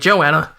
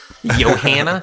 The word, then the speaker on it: Johanna: I need to redo this video if I was pronouncing it Joanna. Johanna.